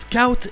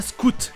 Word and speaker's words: scout: Ça se prononce Scout et pas Scout, comme on le fait en français dans Boy Scout.